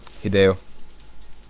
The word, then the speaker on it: Hideo: How do you pronounce it? Hideo.